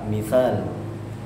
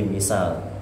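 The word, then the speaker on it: مثال: Asalnya pakai fa, mithal, al-mithal. Tapi dalam bahasa kita, apalagi orang Jawa biasanya mempermudah dalam pengucapan sehingga jadi misal. Misal sulit, tidak ada kata fa, tidak ada huruf fa dalam bahasa Jawa maupun bahasa Indonesia, sehingga yang ada bukan misal tapi misal, pakai sin biasa.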